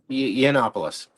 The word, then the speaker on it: Yiannopoulos: Yiannopoulos.